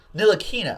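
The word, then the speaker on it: Ntilikina: T is not pronounced Neil Akina I think I think the T is silent on this these and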